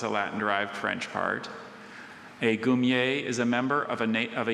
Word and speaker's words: goumier: Goumier. G-O-U-M-I-E-R.